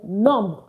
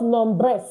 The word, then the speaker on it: nombres: And we wrote it here, numb, numb, numb, not nombre, not nombres, but what? Numb. Why? Don't pronounce this ES. Leave it. Don't pronounce it. All right? So that's why I say numb.